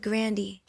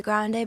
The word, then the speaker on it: Grande: the singer revealed that her grandparents pronounced her last name almost completely differently and it was at the suggestion of her brother Frankie that Ariana modified her pronunciation and the new name stuck my grandpa said Grandy so should we all be saying Grandy well my brother kind of changed it to Grande because like Grandy was kind of like the